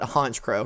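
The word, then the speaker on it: Honchkrow: Haunch Crow is almost certainly a pun on Honcho, since they are the leader and thus should be pronounced like that word.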